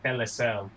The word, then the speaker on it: Telecel: So Telcel, Chelsea FC, NEC, and Claro, which is weird because Okay, you're not Telcel, pronouncing that first one right. It's Telecel. Telecel. Okay.